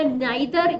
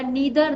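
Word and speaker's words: neither: गया आप लोगों का, एक और हो गया नाइदर या नीदर, दोनों ही प्रोनाउंसिएशन सही है इसके, नो सूनर हो गया, एटसेट्रा।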